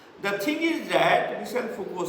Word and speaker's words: Michel Foucault: Michel Foucault or Michael Foucault in Indian pronunciation.